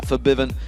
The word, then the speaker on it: Febiven: it works out for Febiven, who we have been told to pronounce it that way, by the way, if anyone's wondering why we've changed it from Febiven to Febiven.